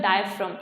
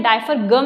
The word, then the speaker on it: diaphragm: होगी, this is द डायफ्राम। इसको क्या बोलते हैं, डायफ्राम बोलते हैं। इसकी स्पेलिंग DIAPHRAGM होती है, डायफ्रागम नहीं, it's called pronounce is डायफ्राम, ठीक है।